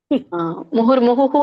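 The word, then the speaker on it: ಮುಹುರ್ಮುಹುಃ: ತುಂಬಾ ತಪ್ಪಾಗಿದೆ ಮುಹುರ್ಮುಹು ಅಂತ ಮಾಡಿ ಕೇಳಿ ಎಂಡ್ಗೆ ಹುಹು ಅಂತ ಹೇಳಿ ಒಂದು ಮತ್ತೆ ಫಸ್ಟ್ ಚರಣದಲ್ಲಿ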